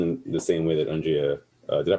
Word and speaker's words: Undria: Like it's pretty much going in the same way that Undria, did I pronounce it right, by the way? Undria?